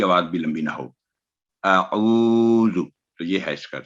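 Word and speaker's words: أعوذ: اور زو کی آواز بھی لمبی نہ ہو, اعوذ. تو یہ ہے اس کا صحیح تلفظ.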